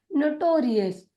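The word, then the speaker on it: notorious: एन का उच्चारण न, ओ का उच्चारण अ, टी का उच्चारण ट, ओ का उच्चारण ओ, आर का उच्चारण र। नोटो, नोटो। और जैसे ही आई ओ यू एस हुआ तो उसे हम कहते हैं अस, अस। यहाँ पर आ रहा है तो वह हो जाएगा रियस, नोटोरियस, नोटोरियस।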